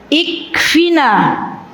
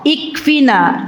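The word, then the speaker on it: اكفنا: Ikfina. Nanti dibacanya kalau lanjutannya Allahumma kfina. Allahumma kfina. Ya, ikfina ada alifnya, tapi kalau membacanya langsung nanti alifnya hilang.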